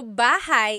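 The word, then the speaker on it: bahay: Shir said I always make a mistake with bah and so bahigh is house buhai is your life.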